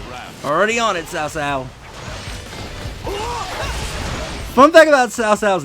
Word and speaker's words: Cao Cao: When the actual pronunciation is Cao Cao.